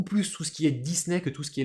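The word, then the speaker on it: ディズニー: petit i par exemple dans Disney qu'on va prononcer alors en anglais Disney Mme Disney je crois donc en japonais Disney Disney et ouais Disney alors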